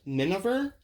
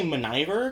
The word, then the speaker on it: Miniver: It's pronounced Miniver, but I say Miniver because I just remember it that way.